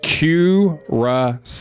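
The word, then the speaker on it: Curaçao: It's pronounced Curacao, like the German.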